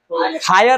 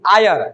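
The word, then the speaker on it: heir: हायर नहीं आयर किसी चीज को भाड़ा पे करते हैं ना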